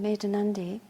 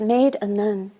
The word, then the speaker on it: Medhanandi: gave me my name made aundi that's another story but I was made a nund it's not spelled like that I was walking down